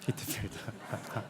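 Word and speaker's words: Whitefield: 히트필드. 아, 우리 이런 휘필드라고 하지만 영국식 발음은 휘트필드라고 발음해요. 이게 우리 책으로 나오면 다 휘필드로 나오더라고요. 거기는 휘트필드라고 하죠. 히트필드. 영국식 발음은 히트필드인데요, 목사님. 미국식 발음은 휘필드입니다. 휘필드요.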